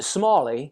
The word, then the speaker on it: Smalley: to a kenny but i pronounce it smally smally okay but the small and the smaller yeah okay well yeah